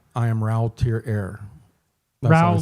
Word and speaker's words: Ra: am raoul tier heir rao like yeah they they pronounce it rao okay wow maybe the